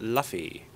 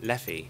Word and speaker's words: Leffi: to be up against Luffy. Not Luffy, Leffy.